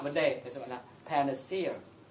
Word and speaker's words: panacea: đề, thì gọi là panacea. Và nhớ cách đọc từ này. Cố gắng ngay lần đầu tiên ta đọc là đúng rồi, sau là sẽ đúng. Nghe, panacea. Nghe.